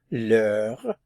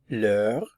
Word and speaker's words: l'heure: This is actually a la, but because the H is silent and the word begins with a vowel sound, we have to use the apostrophe. So we have l'heure, l'heure.